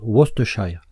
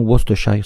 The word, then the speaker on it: Worcestershire: nom imprononçable, la sauce Worcestershire, qui s'écrit différemment qu'elle se prononce. On se doit de ne pas prononcer en anglais la seconde syllabe.